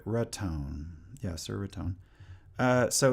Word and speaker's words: Raton: Uh, no, you are pronouncing it Raton.